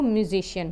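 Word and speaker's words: musician: ये एक spelling pattern है to show the profession. म्यूजिक का जो प्रोफेशन है वो म्यूजिशियन होता है।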